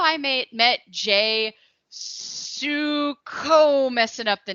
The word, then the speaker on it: Sukow: So yeah, it's Sukow. I usually tell folks. If you've ever seen the movie Grease, Danny Zuko, it's like that, but a soft S.